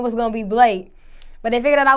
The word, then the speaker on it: Blake: your stage name uh the correct way to pronounce my stage name is Blake Blake is simple do people mispronounce this